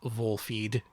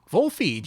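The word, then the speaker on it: Volfied: it's pronounced wolfy yeah you look at the katakana it is pronounced vol feed catchy isn't it wool feed oh yeah we still got links turned off because of bots yeah vole feed you know like kicks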